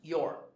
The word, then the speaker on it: you're: So you are would be your. It's pronounced your.